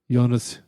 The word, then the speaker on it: Jonas: we did turn out he's been called Jonas Jerebko his whole career he'd let the world know like two days ago you're right it's pronounced yonas you know epic oh